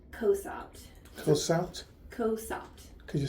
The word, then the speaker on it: Cosopt: Then I would recommend switching her to a drop called Cosopt. What's it called? Cosopt. Cosopt? Cosopt. Could you spell it?